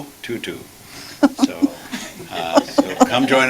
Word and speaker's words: Tutu: goodness by Desmond and we learned how to pronounce her name tutu so uh so come join us for that